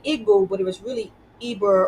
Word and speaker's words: Igbo: and now we say Igbo, but it was really Eber or Ebre, really something like that. It's really Igbo. Like the pronunciation, right? The I in Igbo is an E sound.